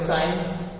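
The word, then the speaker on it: science: सी के बाद आईडी मिला इसका मतलब सी साइलेंट आज इसको पढ़ेंगे साइंस साइंस होता है विज्ञान क्या होता है आप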